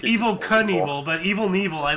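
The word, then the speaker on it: Evel Knievel: and evil right so how is it pronounced yeah it's it's Evil Knievel but evil and evil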